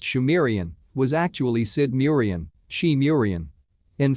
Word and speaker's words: Sumerian: He writes, it is also reckoned that the subsequent culture of the region, phonetically called Sumerian, pronounced Shumerian, was actually Sidmurian, Shemurian.